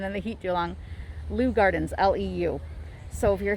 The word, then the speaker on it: Leu: gardens here in winter park florida again lou is spelled l-e-w i'm sorry l-e-u i think i've been in the heat too long lou gardens l-e-u so if you're here in orlando